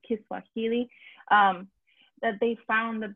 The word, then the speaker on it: Kiswahili: say it right um so it's kind of like swahili but like kiswahili um that they found